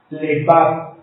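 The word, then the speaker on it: לבב: Lebab. Con B grande. Lebab. Y acento en la A.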